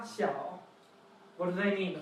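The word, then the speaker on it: 小: And it's pronounced? So we have da, xiao.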